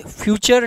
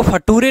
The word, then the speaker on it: future: फ्यूचर tense. फ्यूचर की spelling को ध्यान से देख लेना, FUTURE। इसको फटूरे नहीं पढ़ेंगे, क्या पढ़ते हैं? फ्यूचर।